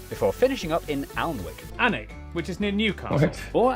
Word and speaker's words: Alnwick: kwon more kwama before finishing up in alnwick anak which is near newcastle or as the people